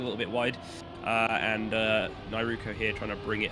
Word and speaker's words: Nyaruko: It's an anime character, and you don't pronounce the O.